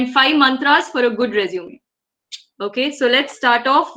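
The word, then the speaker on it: résumé: This is, if you can see the accent marks, it's called resume. It's a French word, okay, which means a summary or outline, and it's pronounced as resume.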